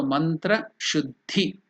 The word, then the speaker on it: mantrashuddhi: The two consonants the and the vowel E together it becomes dhi. So it should be stressed like that. So mantra shuddhi, that is the pronunciation.